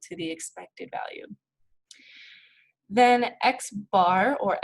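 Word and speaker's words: x̄: So when we see x bar is equal to something, we're calculating or we're finding the mean, and we would pronounce this as x bar.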